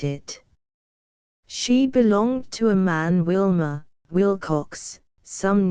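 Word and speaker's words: Mahon: He had a Roman nose, a snow-white, long beard, and his name was Man, but he insisted that it should be pronounced Man.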